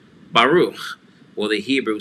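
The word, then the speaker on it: ברוך: And then the chaf sofit is CH, and the two dots inside the shva means come to a glottal stop. No extra vowel sound will be pronounced after that. So we have Baruch, Baruch, Baruch.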